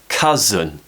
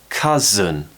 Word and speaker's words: cousin: be with an a cousin cousin cousin remember that stress is on the first syllable so it's stronger more power on that first syllable cut as in cousin